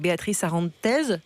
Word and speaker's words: Beatriz Arantes: Et on en parle avec Béatrice Arantez, c'est bien comme ça qu'on prononce? Oui.